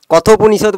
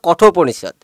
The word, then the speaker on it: কঠোপনিষদ: তোর প্রোনাউন্সিয়েশনগুলো ভুল হচ্ছিল, যেমন ওটাকে কথোপনিষদ বলছিলাম, ওটা কঠোপনিষদ।